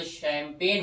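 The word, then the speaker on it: champagne: शैम्पेन को कहते हैं चैम्पेग्नी, लेकिन जब इसको प्रोनाउंस करते हो, आर्टिकुलेट करते हो, तो शैम्पेन होता है ये, लाइक दिस वन, शैम्पेन।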